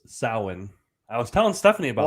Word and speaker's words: Samhain: man trinial samhain harvest or hallows so it's pronounced samhain i was telling stephanie about oh okay yeah uh if you watch the halloween movies you would know that they pronounced it wrong he says samhain and halloween too and everybody loses their minds